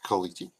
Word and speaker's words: caliche: al r CH anyway it's uh it's it's kaliki like it's a white ish almost every road